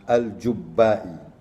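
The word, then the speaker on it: al-Jubba'i: 850, and Abu Ali al-Jibai died 916, which is the second phase of Mu'tazilite, a leader of the second phase of Mu'tazilite, al-Jubbai, actually. It should be pronounced al-Jubbai.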